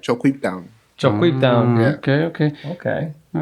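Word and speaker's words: ChocQuibTown: No, but you don't say it like that. It's it's Choquib Town, but they say it like Choquib Town.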